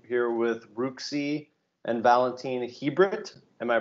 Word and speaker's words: Chibrit: I'm your host, Sam King Davis, and today we're here with Ruxi and Valentin Chibrit. Am I pronouncing that right?